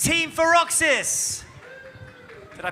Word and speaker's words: Feroxis: And from the Canadian International School, Abu Dhabi, it's Team Feroxis. Did I pronounce it right?